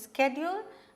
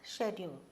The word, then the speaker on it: schedule: to kamalesh malaysia's schedule schedule and schedule both are correct the american way of pronouncing it is schedule and the british way of pronouncing is schedule okay all his duties